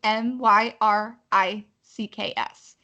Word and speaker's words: Myricks: So the first part, Danessa, is Danessa, and then Myricks is Myricks.